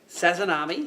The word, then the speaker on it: Sazanami: You're in charge of designing some of the lures, including the new, how do I pronounce it? Sazanami. Sazanami, yep.